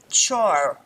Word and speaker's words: char: Char or char would be a fixed length string.